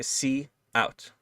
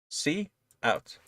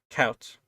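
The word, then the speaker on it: cout: is pronounced by the c out right that's two words c out right not count c out right um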